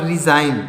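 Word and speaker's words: resign: silent है उसमें देखिए यहां पर रिजाइन इसको क्या पढ़ेंगे यहां पर जी साइलेंट है इसको क्या पढ़ेंगे जी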